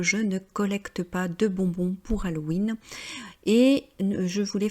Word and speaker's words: bonbons: Et je voulais faire une petite remarque, on met le S à bonbon parce que l'on marque le pluriel, mais en français on ne prononce pas le S, hein. C'est très différent de l'anglais, je le dis ça